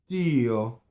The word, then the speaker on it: Dio: No, we go up to the D, and then we don't say it. Dio. And you see, closed O, going up, stop, don't say the D, then say one D. It's the space that makes the expression, right?